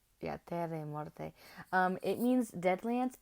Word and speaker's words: Terre et Morte: It's French. It's Terre et Morte. So, I've been saying it right, I think. Yeah, Terre et Morte.